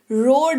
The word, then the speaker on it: road: रोड तो नहीं बोलते, रोड बोलते हैं, ROAD, रोड। यहां पर ओ और ए दोनों वॉवल है, ओ के कंधे पे जिम्मेदारी ज्यादा, लॉन्ग वॉवल साउंड आएगा रोड, ठीक है।